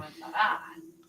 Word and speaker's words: comenzará: Comenzará. We gotta put the emphasis on the last A.